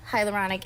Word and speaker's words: hyaluronic: So I put that on during the day, and the hyaluronic.